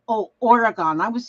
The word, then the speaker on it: Oregon: And so I had to learn how to say Oregon. Then I said, well, why didn't they spell it Oregin? Gin. Instead of O-N.